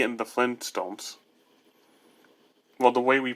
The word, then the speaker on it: Flintstones: Well, the way we pronounce it, we say it kind of fast, so we don't say Flintstones, because that's awkward to say. We just say Flintstones. That's why we don't recognize a T being in the name.